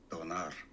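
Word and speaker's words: döner: Pronunciation. Donar.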